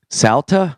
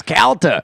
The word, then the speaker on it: Calta: How do you say my last name? Spell it right. Salta? It's up on the wall. It's up on the wall. Of course, Calta. But people say mispronounce Calta.